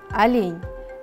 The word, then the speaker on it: олень: Также у нас изображен олень. Произнесем слово «олень». Олень.